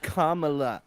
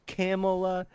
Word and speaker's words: Kamala: and this is kind of her name is kamla not camela not Kamala it's Kamala okay oh yeah uh